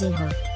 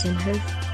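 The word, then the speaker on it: Inhofe: a well-known republican senator that's james inhale not him hoof in a video message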